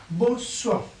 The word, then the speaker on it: bonsoir: Bonsoir, bonsoir, bonsoir, bonsoir means good evening, good evening. Bonsoir. Okay, bonsoir. How I pronounce it? Bon. Okay, soir. Bonsoir. Okay, like bonjour, bonjour.